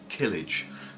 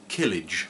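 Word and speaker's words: Kilij: So yeah, Killage, I think that's how it's pronounced. K-I-L-I-J.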